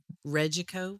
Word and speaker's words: Regeco: Reiko.